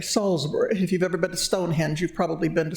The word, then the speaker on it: Salisbury: you've probably heard of they pronounce it Salisbury uh not Salisbury Salisbury if you've ever been